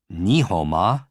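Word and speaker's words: 你好吗: Now, if you wanted to say, how are you in Chinese, it would be ni hou ma. Ni hou ma. Break it down. Ni, ho, like a garden hoe, and ma.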